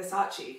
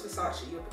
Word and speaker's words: Versace: How do you say it? Versace or Versace? Sorry, is Versace, not Versace.